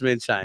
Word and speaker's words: Monschein: Is it pronounced Monschein? Moonshine. It is pronounced Moonshine. No, it's not. But Munch- it is. Munchein. Moonshine is what it's preferred.